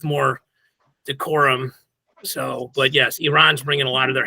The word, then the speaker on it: Iran: Okay, first of all, we have to pronounce them Iran because because an Iranian reporter chastised one of